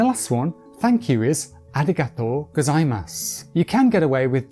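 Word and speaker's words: ありがとうございます: KONBANWA and the last one, thank you is: arigato gozaimasu You can get away with just saying arigato,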